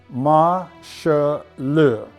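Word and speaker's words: 马歇尔: we do know that the Chinese characters are pronounced masha Liu which is the Chinese transliteration for Marshall here we have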